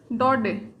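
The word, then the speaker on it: Daudet: Alphons डॉडे। Guys बहुत से students इसको डॉडेट भी बोलते हैं। नहीं गाइस, इसकी जो करेक्ट प्रोनाउंसिएशन है वो यही होगी, अल्फोंस डॉडे, राइट।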